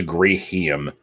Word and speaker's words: Greeheen: I like pronouncing it as Greehiem. Not like it's not a hard emphasis. It's not like Greehiem. It's just hiem. Okay, you do have to do a long gree though, so it has to be Greehiem.